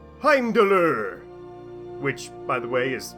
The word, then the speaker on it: Heimdallr: Now, the name Heimdoll technically isn't correct, as it's an angle-sized pronunciation of his Norse name, Heimdoller, which by the way is so much more fun to say.